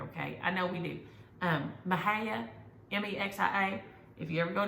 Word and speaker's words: Mexia: I mean, it's a Texas joke because the town Mexia is Mexia. It's Mexia. That's how you say it.